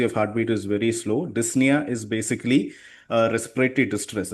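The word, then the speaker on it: dyspnea: Dysnia is basically uh respiratory distress. Okay. This is pronounced as dysna. Okay. The p is silent.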